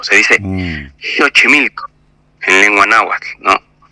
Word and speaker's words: Xochimilco: en realidad es México o por ejemplo Xochimilco no que es un lugar muy emblemático de aquí a México si lleva x pues pues no se dice Xochimilco se dice Xochimilco en lengua náhuac no